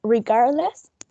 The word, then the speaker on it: regardless: it is the first word is regardless and it has three syllables and the most prominent one is the second one this one then in